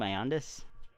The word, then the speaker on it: Ioannidis: How do you say that name, Ioannidis? Ioannidis? Yeah. Okay, so I did say it right the first time.